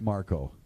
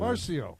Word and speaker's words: Marcio: What did I say? Marco. That's like Marcio, but, pronounced incorrectly. Where's the humor in that? Oh, my God. Man, I'm so sorry. Oh, Marcio, come on out here.